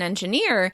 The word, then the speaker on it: engineer: When you're talking about your work as an engineer, you want to make sure you're stressing the right syllable. In American English, this word will be stressed on the last syllable: engiNEER, engiNEER.